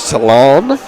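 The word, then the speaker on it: Celina: on my Southern Roots but it's c e l i n a um to me it comes across as Salon but uh I don't know if that is correct as well I asked him to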